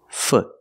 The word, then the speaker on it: foot: leg say foot pronunciation use the uh sound the short uh like good foot foot when you take your